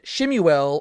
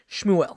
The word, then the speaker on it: Shmuel: dialogue between Jesus and shimuel or as many people like to say schmuel because that's technically the right pronunciation but uh Jesus and shimuel that's how I like pronouncing his name and it starts off